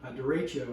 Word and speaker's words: derecho: Derecho, I think is how you say it.